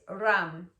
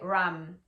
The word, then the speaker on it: Ram: The Sanskrit mantra is Ram, Ram, Ram. You don't need to roll your R. I don't know why that's happening to me today. Ram, Ram, Ram, R-A-M.